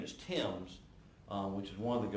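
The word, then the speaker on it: Thames: And I believe I incorrectly pronounced the last name, and her name is Timms, which is one of the girls that was killed, but also the Bennett girl.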